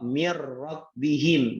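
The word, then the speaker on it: مِن رَّبِّهِمْ: Ya, contohnya nun ketemu ra, mir rabbihim, gitu ya. Mir rabbihim, nggak boleh bacanya min, ya, atau bacanya mir, harus dimasukkan dan tidak ditahan.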